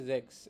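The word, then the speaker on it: sechs: সিক্স কে বলে হচ্ছে জ্যাক্স এটার উচ্চারণটা হবে হচ্ছে এস এর উচ্চারণটা হবে হচ্ছে যে এর মত করে যে এর মত করে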